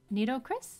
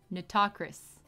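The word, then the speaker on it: Nitocris: Neato Chris? Am I saying that right? Neato Chris? Neato Chris? Fate Grand Order? How do you pronounce? Pronunciation. Natakris.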